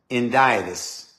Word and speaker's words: Hendiadys: It's a word that you pronounce, it's spelled H-E-N-D-I-A-D-Y-S, Hendiadys.